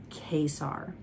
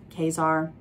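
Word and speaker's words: Kaysar: I pronounce his name Kesar. Kesar, Kesar, I don't know, whichever you prefer. I don't, it's spelled K-A-Y-S-A-R.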